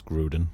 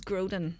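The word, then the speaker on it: Grodin: forgotten his name again I always get his surname wrong it's Charles Groen Charles groden there we go um I first knew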